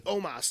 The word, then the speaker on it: Omos: you had the returning Bobby Lashley come and tell Omos, is that how we pronounce it? Amos, whatever. It's written almost. I'm not. So he Omos. Omos, that's what it is.